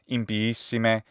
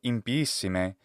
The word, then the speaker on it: impiissime: But the way she says impiissime has something wrong in it, and I really want to emphasize this because it's an important part about good Latin pronunciation. Da locam impiissime. And she adds a glottal stop between the two letters I.